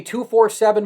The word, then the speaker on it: 247Sports: Do they say 247 more or 24/7? Which one do they use more? 24/7. It is 24/7.